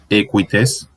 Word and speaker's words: equites: Si uno dice, por ejemplo, no sé, equites, uno pronuncia esta U, pero la transcripción fonética de esta grafía es así, marcando que esta U no es plena, sino un apéndice vocálico.